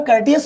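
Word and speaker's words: courteous: इसको प्रोनाउंसिएशन इसका कर्टियस होता है दोस्तों, लेकिन आपको याद क्या रखना, कर्टियस में कोर्ट याद रखो।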